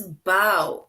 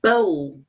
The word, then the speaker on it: bow: took a bow and this bow it rhymes with how so bow how and then we have another one it says the girl tied a bow in her hair you